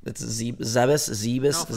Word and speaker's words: Zebes: It's Zebes. Look it up. How do you pronounce it?